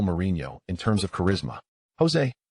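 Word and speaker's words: José: Jose is the Portuguese pronunciation while Jose in Spanish is pronounced as hese indicating the journalist's origins.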